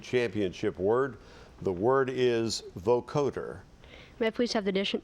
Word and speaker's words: vocoder: Vocoder. Am I pronouncing it correctly? Vocoder?